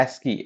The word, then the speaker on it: ASCII: ठीक है, इसको प्रोनाउंस करते हैं एस्की, ASKEE, एस्की।